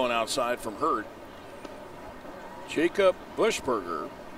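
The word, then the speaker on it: Buchberger: outside from hurt Jacob bushberger although his last name is spelled b-u-c-h b-e-r-g-e-r it is pronounced Bush Burger pitch a little bit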